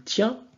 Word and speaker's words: tient: En français on dit bien il tient, donc le T à la fin n'est pas prononcé, donc c'est comme s'il était muet, donc c'est comme si vous